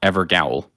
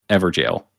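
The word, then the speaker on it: Evergaol: made that launched us I pronounced evergel evergowl and I would say I received somewhere around a thousand comments telling me to pronounce it ever jail and I sincerely believe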